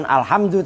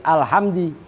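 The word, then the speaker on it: الحمد: Lafaz alhamdulillah bacanya bukan alhamdu tapi alhamdi, bikasri dali, dengan dibaca kasroh dalnya alhamdi, bittibai harokati dali, dengan mengikuti harokat dal, mengikuti alama pada lam.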